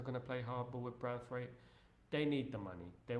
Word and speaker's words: Branthwaite: That boy Branthwaite makes England look rhymes with kite.